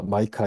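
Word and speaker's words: Micah: 이 미가란 이름은 영어로는 마이카 이렇게 발음하죠.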